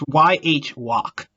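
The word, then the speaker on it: Yhwach: i i i think i think it's you walk i'm pretty sure it's yh walk let's go with that yeah i think i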